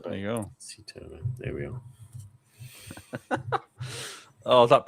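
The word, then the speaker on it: Sithole: We've got the official pronunciation. There we are. Sitole. Sitole. There you go. Sitole.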